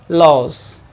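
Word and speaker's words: lose: हम यहाँ पर देखें, इसका प्रोनाउंसिएशन होता है लॉस, जेड के साउंड के साथ, आई लॉस माई की,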